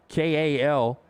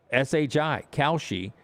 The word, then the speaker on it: Kalshi: It's spelled, if you're listening, Kalshi, Kalshi.